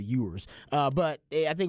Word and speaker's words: Ewers: talking about Queen Euros he does mispronounce his name he calls him you were oors instead of yours uh but I think